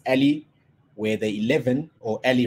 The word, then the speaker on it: a11y: You'd have seen the word ally in my title, pronounced Ali, where the 11, or